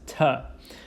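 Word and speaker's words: Թ: Next, we have to, uppercase, lowercase, pronounced as ta.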